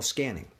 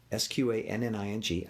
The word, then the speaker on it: Sqanning: What I call scanning. Sqanning. I just gave it a name, just something to remember it by. It alludes to scanning the body, looking for tension, but it's spelled with a Q, just to be cute.